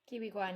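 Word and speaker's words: Ke Huy Quan: Okay, but then you follow that up with Encino Man, also with your boy Data Kihi Kwan. I think is that how Mm-hmm. you say his name? Kiwi Kwan, yeah.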